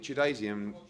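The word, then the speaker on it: Chudinov: Tchoudinov.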